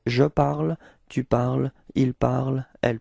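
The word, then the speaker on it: parlent: Okay, so you don't pronounce this nt, so phonetically you get the same form as for je, tu, and il, elle of the singular.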